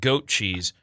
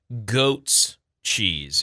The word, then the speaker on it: goats cheese: today's goat cheese day sorry not goat cheese goats cheese it's possessive what yeah have we've